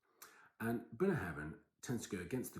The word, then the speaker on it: Ardnahoe: Ardnahoe, not Bunny Heaven. And Ardnahoe tends to go against the grain of the land, tending to be not smoky and peaty generally.